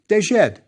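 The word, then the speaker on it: ḏd: Pronounced? Yes, dejed.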